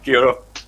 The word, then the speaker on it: kia ora: Yeah, kia ora. Kia ora. Kia ora, bro. Yeah. Kia ora, bro. You forgot the bro. You forgot the bro part, but never mind. You've given. Kia ora, bro.